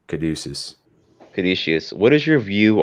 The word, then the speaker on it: Caduceus: Yo, like, Caduceus, or how's it pronounced? Caduceus.